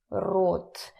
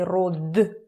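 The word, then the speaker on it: род: in Russian it's rude root remember our pronunciation lesson from the last week we don't say Rod we say root root okay so genders in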